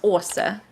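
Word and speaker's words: Åse: แล้วก็จะออกเสียงเป็น "ออ" So my name Å S E is actually pronounced "Orsa".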